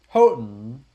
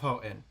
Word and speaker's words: Houghton: Houghton. Yeah, notice the T is basically silent.